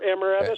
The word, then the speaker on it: emeritus: But now I think he's just their emeritus, or emeritus. Emeritus. Emeritus is how you say it, yeah.